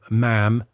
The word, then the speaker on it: ma'am: you would say uh say ma'am rhymes with Jam okay not mom cuz they say Mom Mom Mom yeah rhes with Jam women are always um